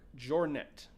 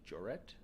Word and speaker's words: Jouret: his second Joseph's second in command was luck jouret jet I think it's how you pronounced that I'm not sure actually uh j o u r e t joret Jor where's he from well they were found